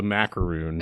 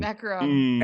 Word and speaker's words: macaron: Let's just move forward, assuming the type of cookie that this is called a macaroon. Macaron.